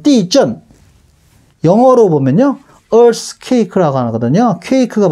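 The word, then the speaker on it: 地震: 중국어 발음은 띠전.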